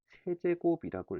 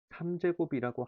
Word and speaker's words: 세제곱: 그 다음 얘는 2의 세제곱이라고 읽어줘. 3제곱이라고 하면 뜻은 통하겠지. 나도 알아듣겠지. 근데 일단 세제곱이라고 읽는다는 거야.